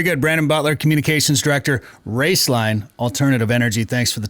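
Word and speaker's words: Roeslein: and uh so uh the name is raceline but it's spelled r-o-e-s-l-e-i-n and then Alternative Energy so raceline Alternative Energy yeah I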